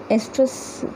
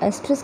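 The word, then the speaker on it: oestrus: तो एस्ट्रस कई बार इसमें ओ लगाते हैं विच इज़ अ साइलेंट, और कई बार किसी किसी बुक्स में जो ओ है वो आगे नहीं दिया होता, तो वो have the same meaning एस्ट्रस।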